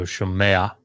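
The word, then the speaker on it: שֹׁמֵעַ: That gut or that little pathak here allows that ayin to have a little bit of a pronunciation. So shomea, shomea.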